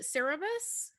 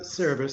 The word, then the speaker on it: Cerberus: Is it Cerebus? Yeah, yeah, yeah. You know? Like maybe we could have Cerebus? No, Cerberus, you got it.